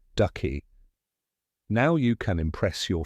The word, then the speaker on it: synecdoche: Looks tricky, but just remember, it starts with sin, like synchronize, and ends in D-O-C-H-E, pronounced ducky.